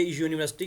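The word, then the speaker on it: university: ही ये यूनिवर्सिटी है आप लोग कहोगे कि सर ये तो यू से शुरू हो रहा है आपने बताया था कि एन वहां पे आएगा हां पे कंस वो वल्स हो रहे होंगे तो ये देखिए हमने मैंने अभी आपको ये चीज बताई के ए और ए में हम जो डिफरेंस करेंगे ना वो इनके लिखे हुए स्ट्रक्चर की बेस पे नहीं करेंगे बल्कि इनके साउंड की बेस पे करेंगे ठीक है तो पहले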